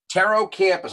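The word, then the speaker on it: Pterocampus: Taro Campus. I'll spell it up here.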